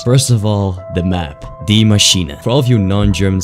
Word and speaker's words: Die Maschine: First of all, the map, Die Maschine. For all of you non-German speaking blokes out there, it's not pronounced Die Machine, okay? No one is dying in this title, it's Die.